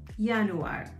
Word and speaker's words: Januar: pronounced as ya hence yanuar same spelling starts with a j but pronounced as yanuar february is february february